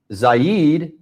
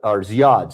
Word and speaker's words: Ziad: But Zaid said breathing, and that's, or Ziad, sorry, I think I mispronounced your name there.